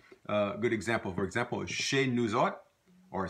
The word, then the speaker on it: chez: easy in Louisiana French sometimes pronounced say without the H say or and shaves